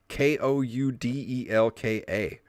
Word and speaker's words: Koudelka: How do you say this? Koudelka? Koudelka. That's better than what I would have guessed.